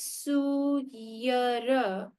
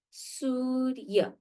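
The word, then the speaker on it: सूर्य: So you read this not as Suyara or Suyara, you read this as Surya.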